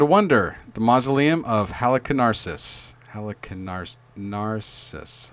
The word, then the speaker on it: Halicarnassus: The mausoleum of Halicarnassus. Narcissus. I think that's how you say it. It's like narcissist, but Oh, Halicarnassus.